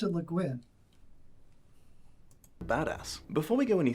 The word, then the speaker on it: Le Guin: I always pronounced it Le Guin.